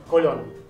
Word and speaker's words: Colón: Colón. Te pido por favor, acento en la última voz, tilde.